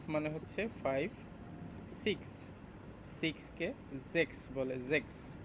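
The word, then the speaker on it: sechs: সিক্স, সিক্সকে জেক্স বলে, জেক্স। এস এর উচ্চারণটা জে এর মতো করে হবে, সিক্সকে বলবে হচ্ছে জেক্স।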